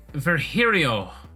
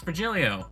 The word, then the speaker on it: Virgilio: It's pronounced Virgilio. What? No, I'm pretty sure it's Virgilio.